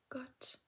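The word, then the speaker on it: Gott: a little bit changed, the word God has changed too. G is becoming got. It's also written differently. Instead of the D, we got two T's at the end.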